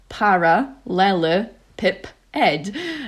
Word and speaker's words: parallelepiped: which is made squint is called a parallelopiped pronounced paralel pip Ed um I mean it's still written down so